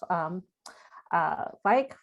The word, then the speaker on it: Ficke: your grandparents, especially your grandfather, Adolf Ficke, right? I said it right? Yes.